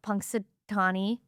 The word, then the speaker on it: Punxsutawney: We talked about Punxsutawney Phil.